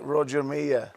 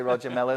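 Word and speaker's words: Roger Milla: that that looks like Roger Mia yeah pronounced correctly as well we say Roger Miller there you go amazing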